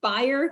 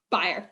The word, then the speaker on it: Bayer: bayer although i understand folks uh in germany pronounce it buyer christian how do you pronounce it i am buyer okay i'll pronounce the